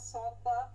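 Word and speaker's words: صاد: সদ, সদটাও সহজ। চ, স, স, চ, স, স এর উচ্চারণ। ছয় আপনি আকার না দিনই হইছে। স যেটা হচ্ছে এটাই স, মোটা হয় না স, চ, স। এই উচ্চারণটা করলেই হইলো। এখন আমরা বাংলায় তো আকার দিয়ে পড়ি, স তো শুধু হয় না, কিন্তু আরবিতে এটা আকার না দিয়ে পড়তে হবে।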